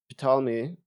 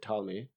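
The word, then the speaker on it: Ptolemy: Um, Palmi or Talmi uh silent P was an ancient Egyptian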